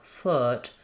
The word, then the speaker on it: foot: When I'm saying uh like f foot, I do still have some lip rounding, but my tongue is lower.